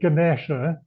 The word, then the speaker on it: Ganesha: But, you know, we've all been listening to her tapes for years and years, and people still say Ganesha. Yeah. No, Gan Esha. So, you know, wrong A and the wrong E.